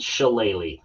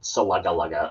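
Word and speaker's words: Shillelagh: The jeweled challe. So, and yes, that is how you pronounce it. It's not salaga laga or whatever people think it might be.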